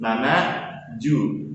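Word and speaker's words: 七十: Nana Ju.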